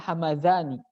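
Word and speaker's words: Hamadhani: Ada daerah yang mirip, tapi dalnya pakai titik, jadi za. Kalau pakai za bacanya hamazani.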